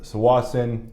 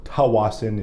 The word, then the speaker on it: Tsawwassen: 312 for Tsawwassen, that's 27%, or Tawassen if you are not saying it correctly.